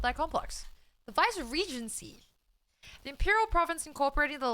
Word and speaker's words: Viceregency: The Viceregency? Viceregency? Viceregency? I don't even know. I'm Googling it. Thanks, Ray. Thank you so much. Oh, fuck. Vice-Regency. Oh, okay. It was not that complex. The Vice-Regency.